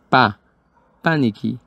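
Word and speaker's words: panicky: de miedo como vemos para pronunciar tenemos que hacer acentuación o fuerza sobre la primera sílaba para nikki barry scary ella es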